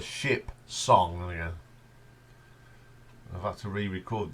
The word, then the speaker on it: Ship Song: version of that the ship Shong got be careful how you say that cuz it the ship song yeah I've had to